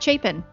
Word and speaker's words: Chapin: Yes, I'll say it correctly. It's Chapin.